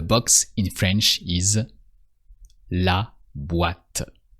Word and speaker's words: boîte: The box in French is la boîte. With the OI that sounds wa, like in what in English. So here it's boîte.